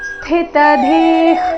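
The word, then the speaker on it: ಸ್ಥಿತಧೀ: ಆಘಾತ ಕೂಡ ಸಮಾಧಿಸ್ತಸ್ಯ ಕೇಶವ ಸ್ಥಿತಧಿ ಕಿಂ ಪ್ರಭಾಷೇತ ಸ್ಥಿತಧಿ ಸ್ಥಿಲ್ಲಿ ಥ ಥಿ ಮಹಾಪ್ರಾಣ ಸ್ಥಿ ಅಲ್ಲಿ ಥ ಏನಿದೆ ಅದು ಮಹಾಪ್ರಾಣ ಮುಂದೆ ತ ಇದೆ ಅದರ ನಂತರ ಮತ್ತೆ ಧಿ ಮಹಾಪ್ರಾಣ ದೀರ್ಘ ವಿಸರ್ಗದ ಉಚ್ಚಾರಣೆ ಅರ್ಧ ಖ ರೀತಿ ಸ್ಥಿತ ಧೀ ಕಿಮ್ ಪ್ರಭಾಷೇತ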